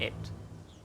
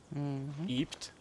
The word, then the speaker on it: ebbt: Das Sandmeer flutet und ebbt. Nicht wie ich es letztes Mal ausgesprochen habe. Wie habe ich es letztes Mal ausgesprochen, Eike? Ebt.